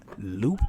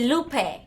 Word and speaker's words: Lupe: Because I realized when I moved here that a lot of American people say Lupe. And I'm like, dude, that's not how you say it. Yeah, that's how. So Lupe, she pronounced it correctly.